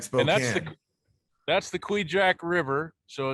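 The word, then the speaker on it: Kvichak: right now that sounds like spells that's the queejack river so it's spelled kvi chak it's part of the uh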